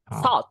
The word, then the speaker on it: thought: Kalau ini bacanya ya tetap thought. thought thought gnya enggak dibaca.